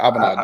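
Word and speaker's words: A'bunadh: Now, so you got a question here asking if you've tried, was that Abnade? Abunad? Yeah, Abunad. There you go. Abelour. I got to pronounce it correctly.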